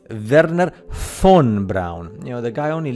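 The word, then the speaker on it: Wernher von Braun: NASA Verner Fon Brown you must spell that correctly Verner F because the v in German in Germany in German sounds like an F so it's verer Fon Brown you know the guy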